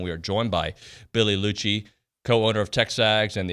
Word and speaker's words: Liucci: Siri says your name. Liucci. Yeah. Oh, it bugs me. I feel like I want to train her how to say it correctly. Billy Liucci. Yes, that's exactly right.